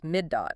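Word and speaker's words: מידות: Our core subject is the hermeneutical methods the rabbis used which are known as midot. That's the plural pronounced midote.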